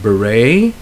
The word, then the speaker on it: beret: Next we have where the T is not pronounced, like depot. It's a silent T. You have beret, and of course everybody knows listen.